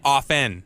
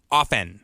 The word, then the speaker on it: often: pronounce the two yet often yeah often yeah T is silent but for some reason